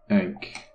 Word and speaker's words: ankh: Ankh. That's how you pronounce it.